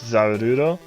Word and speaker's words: Zarude: Next story is we got a new mythical Pokemon named Zarude. I think that's how you pronounce it. Yeah, I'm trying to... I mean, in Japanese it's Zarudo, so...